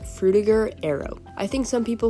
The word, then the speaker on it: Frutiger Aero: think some people say through the juror arrow as well but when i looked it up the european pronunciation which is where the word originated is with a ger not jur so i just went